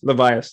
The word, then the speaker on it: Levias: And you described that so well with Jerry, pronounce it Levias? Levias, yes.